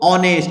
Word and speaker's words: honest: यहाँ क्या बोलते हैं बच्चों, ऑनेस्ट।